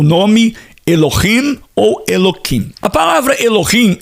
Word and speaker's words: Elohim: Só a título de curiosidade, o hebreu, o judeu, o judeu ortodoxo, ele não pronuncia, nós pronunciamos como de fato o nome Elohim. Mas em qualquer leitura da literatura hebraica, judaica, o hebreu ele fala Eloquim.